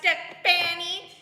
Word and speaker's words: Stephanie: Oh, I'm Stephanie, pronounced Stepani, and I don't have a job.